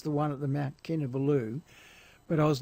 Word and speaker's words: Kinabalu: to the same altitude as, how do you pronounce that again? Kinabalu, the Kinabalu enensis.